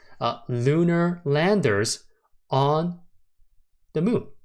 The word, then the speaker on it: LUNR: L NR or basically lunar all right this ticker symbol is telling us that this ticker is spelled out to be uh pronounced Luna and it makes perfectly it